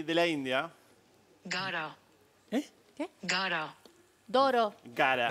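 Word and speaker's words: Gaara: Pero para, ¿cómo se escribe? G-A-A-R-A. Gara.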